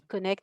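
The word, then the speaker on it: CNECT: Il y a la DG Santé, mais il y a aussi la DG, Connect, alors qui se dit Connect, mais qui s'écrit CNET, voilà, et qui, finance, pas mal de projets en e-health, donc vraiment sur la santé, digitale.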